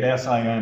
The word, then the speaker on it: sine: you need it's abbreviated sinin on your calculator don't pronounce it sin if you wish you can but it's sign anyways that's what I'm